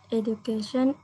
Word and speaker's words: education: lagi coba sini priv Education is Nah d-nya buinya jadi bunyi j e Education edation is it